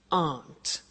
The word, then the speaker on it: aren't: they aren't cheap so the difficult here is the pronunciation of a not which is Aunt okay Aunt good so that's the negative